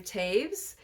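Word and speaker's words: Toews: all my puny Sorrows by Miriam Taves I've heard that that is how she pronounces her name Sonia has informed me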